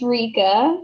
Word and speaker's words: Rika: Rika or Rika. Tell me if I pronounced it correctly. Rika, come on. It's Rika, but it's fine.